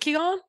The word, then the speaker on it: Qigong: Tell me, and then we can talk about what Qigong. Is it Qigong?